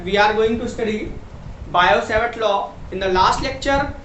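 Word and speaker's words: Biot–Savart: Now, what is Bio-Savart law? Here T is silent.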